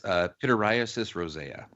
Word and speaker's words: pityriasis rosea: It's pityriasis rosea.